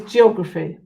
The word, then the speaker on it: geography: Remember, it's that PH for the F sound.